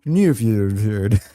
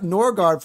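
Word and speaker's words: Nørgaard: They go, "How do you pronounce your name?" And he goes, "Christian New." And everyone's like, "What? That's how you pronounce your name actually." But I can't get behind that. Norard for me is easier to say than But I can understand that.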